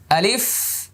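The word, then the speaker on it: ألف: এবার আমি আবার বলছি আলিফ আলিফ আলিফ আলিফ। এভাবে বাতাস বের হবে, দাঁতগুলো এখানে লেগে যাবে। আ আ লিফ লিফ আলিফ আলিফ।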